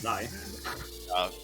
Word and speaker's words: xi: That's how it's pronounced, actually. It's Zai.